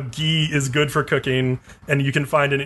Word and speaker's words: Guy: the end of last episode the circus recovered ghee yes his name is gay now that I'm doing the synopsis I'll pronounce his name right again you can bow